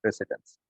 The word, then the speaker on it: precedence: शायद आपने spell pronunciation सही ना सुना तो मैं आपको बताऊं, PRECEDENCE, प्रेसिडेंस।